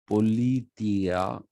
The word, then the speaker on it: politeia: o l i t e i a it's pronounced politia and this when the romans tried to translate